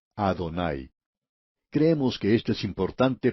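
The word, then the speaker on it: Adonai: exacta es Oh Señor y se dice adonay creemos que esto es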